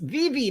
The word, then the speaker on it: VeVe: It's these two VeVe covers.